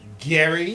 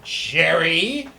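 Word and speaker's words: Gerry: It is Gary, not Jerry.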